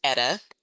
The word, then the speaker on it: Edda: My name is pronounced Eta. Eda. Yes. I'm sorry. Thank you. Edna was my mother-in-law.